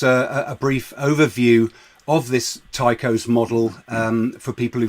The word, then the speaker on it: Tycho: The TYCHOS model is I base it on the model that Tycho Brahe, or we pronounce it Tycho in Swedish.